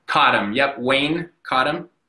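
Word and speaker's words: Cottam: Cottom? Cottom, yep.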